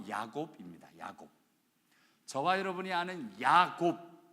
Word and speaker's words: 야곱: 저와 여러분이 아는 야곱, 이 히브리식 이름이고요, 헬라식 이름이 야고보입니다. 영어로 제이콥이라고 B로 끝나는 야곱, 이것이 히브리식 발음이고요, 제임스라고 끝나는 이 표현이 바로 헬라식 발음입니다.